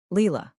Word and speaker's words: Leela: Leela. She pronounces it like the name of a flower.